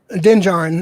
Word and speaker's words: Din Djarin: I can't even pronounce his name. Din Djarin.